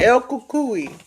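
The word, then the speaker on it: El Cucuy: That's how you pronounce it. El Kukui.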